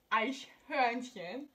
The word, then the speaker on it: Eichhörnchen: Eichhorn. Okay. Eichhorn. Excuse me, I'm Latina. I know how to pronounce that in Spanish. Okay, so it's pronounced Eichhörnchen.